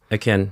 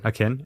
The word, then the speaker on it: Akin: Is it Akin? That's how it's pronounced? Akin. Akin. That's how I pronounce it.